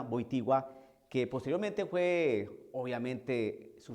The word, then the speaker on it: Wojtyła: Así se pronuncia Wojtyła, que posteriormente fue, obviamente, su santidad San Juan Pablo II.